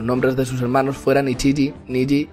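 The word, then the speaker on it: 一: El número uno se pronuncia Ichi, Ichiji.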